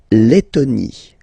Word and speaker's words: Lettonie: La Lettonie. So remember when you've got this and then a double letter like that, T, okay, then you will have to open your and it will become Lettonie.